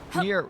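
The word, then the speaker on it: NieR: I like I'll probably call the last near stream nearly done or something like that, but it's spelled like near I N I R N I E R.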